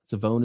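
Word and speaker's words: Shavon: end pass rusher maybe savone Ravel savone is how he pronounced his first name apparently he's he's kind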